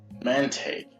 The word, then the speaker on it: Mantaic: hello welcome to the desert oasis man take man Tate yes that's how you say it Matt what's